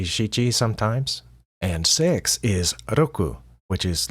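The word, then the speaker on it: 六: how to pronounce that it's not pronounced like the r in American English it's more like an l and a d mixed together oku kind of like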